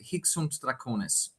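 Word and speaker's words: Hic Sunt Dracones: As a German speaker, I think I would pronounce it Hic sunt Draconis. Not sure how like an actual Latin speaker would do it, or maybe an Italian would do it, but that's how I go about it.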